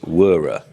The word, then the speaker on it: Wera: Wera. Is that how you pronounce it? Wera. I've always wondered. You heard it here first. It's Wera.